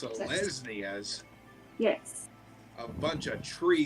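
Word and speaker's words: Selesnya: I choose to join the Selesniers. Is that how you The pronounce it? Selesnias, Yes.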